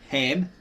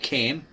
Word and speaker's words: Ham: him were born sheim ham. This is silent as in the Egyptian. It's not cam. It's not kim. It's ham or him and japith or yith.